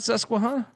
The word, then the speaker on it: Susquehanna: Yeah, Susquehanna. Is it not Susquehanna? It is Susquehanna.